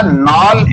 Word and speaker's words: Knoll: Electron सूक्ष्मदर्शी बनाया था नॉल एवं रुस्का। नॉल, इसकी स्पेलिंग है KNOLL, और तथा रुस्का, एक दूसरे वैज्ञानिक थे रुस्का, RUSKA।